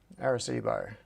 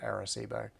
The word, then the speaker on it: Arecibo: Where is Arecibo? Yeah, Cibo. Okay. Thanks, Michael. You've corrected my pronunciation.